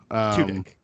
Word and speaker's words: Tudyk: Is it Turdick? Richardson? Okay. No. Tudyk.